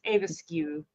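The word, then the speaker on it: aebleskiver: able there we go a looks like able SK but it's aisu that's how I always heard it said I I believe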